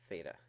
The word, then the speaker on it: theta: And again, it's pronounced theta.